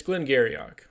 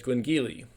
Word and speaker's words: Glen Garioch: So, today we're going to catapult over to the Highland region of Scotland for some Glengyle Virgin Oak. Now, it's not spelled like you think it is cuz it's Gaelic, but it looks like